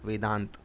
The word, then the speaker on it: वेदांत: VEDENTA, ए जो है वो हिंदी में साइलेंस होता है, साइलेंट रहता है, चुपचाप अपना काम करता है, वेदांत।